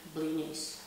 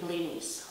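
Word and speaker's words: блины: You make blinis, you go to people, they make blinis, and everybody's just eating blinis all week long. And the correct pronunciation of this word is actually not blinis. It's blini. Blini.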